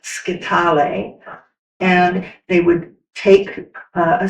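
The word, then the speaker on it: scytale: It's pronounced sketal.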